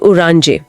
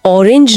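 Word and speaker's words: Orange: और इस सेक्शन का आखिरी अक्षर ओ ओ ओ शब्द है द उरांजे। दी उरांजे संतरा। यहां ऑरेंज नहीं उरांजे है। थोड़ा सा अलग है। हां, उच्चारण में हल्का सा फर्क है।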